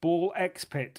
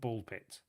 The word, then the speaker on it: BALL x PIT: having looked things up, ball x pit isn't pronounced ball x pit or ball crossfit pit. Apparently, that's just a spacing thing. It's just called ball pit apparently.